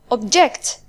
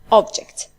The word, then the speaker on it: object: The first one is object. The stress is on the second syllable, whereas the second one is object.